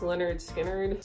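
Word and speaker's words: Lynyrd Skynyrd: eat grandma two ribbons Leonard skard pronounced Leonard skinnard still one of my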